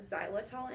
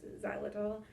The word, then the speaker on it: xylitol: It's spelled with an X, xylitol.